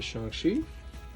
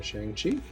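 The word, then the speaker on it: Shang-Chi: like up next to shanxi now we know to say it that way because of the movie you might also call him shang chi depending on how you pronounce it his three special cards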